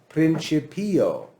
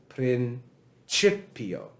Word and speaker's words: principio: on the p it would like to say principio that's what it would like to say but the problem is that this syllable is short and so it can't put